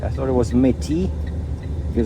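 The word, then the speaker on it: Metis: I thought it was Metty because it's spelled M-E-T-I-S. I thought it was French. Turns out it's Native American, and it's Metty with a stress on the first syllable.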